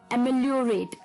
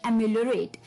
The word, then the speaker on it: ameliorate: जी हाँ, थोड़ी सी जो इसकी प्रोनाउंसिएशन थोड़ी सी अनोखी है, एम्यूलियोरेट। ठीक है, एम्यूलियोरेट, इसके स्पेलिंग होंगे AMELIORATE, एम्यूलियोरेट।